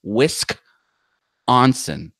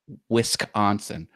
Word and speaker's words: Wisconsin: you do it properly it's whisk is like one part of it not with con that's wrong it's whisk onsen that's how you say Wisconsin that's why it sounds